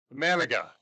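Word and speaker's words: Imanaga: Emanaga.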